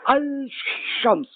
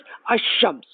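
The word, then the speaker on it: الشمس: So Sham and L, it's difficult to pronounce them. Like this will be Al-Shams. This is very bad. So the good style is Ash-Shams.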